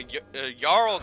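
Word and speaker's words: jarl: according to Ricky ninja a yarl king is supposed to be pronounced with a Y after all so he is the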